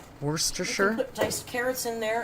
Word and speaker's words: Worcestershire: in a little pepper rhymes with rooster worcestershire put diced carrots in